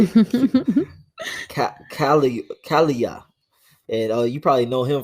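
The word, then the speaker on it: Daniel Kaluuya: His name is Daniel Kula. That's how you say it? Kalia.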